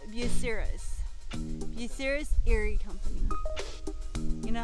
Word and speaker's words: Bucyrus: That word is called Bucyrus.